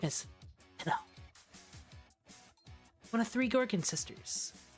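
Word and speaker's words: Stheno: It's Beno. Is that how you say it? Then bask in her radiance. That's right. I am a goddess. My name is Theno.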